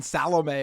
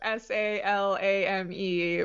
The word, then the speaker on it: Salame: were calling him Ryan Salome or something like that. Yeah, it's spelled s a l a m e, but it is pronounced Salame which I learned.